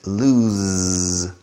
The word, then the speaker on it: lose: o's in the middle and listen to the pronunciation of the s El Perro estas the dog is loose now perder is lose lose don't lose the envelope lose independent and